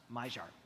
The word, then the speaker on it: Maillard: It's spelled Maillard, but it's pronounced Maillard.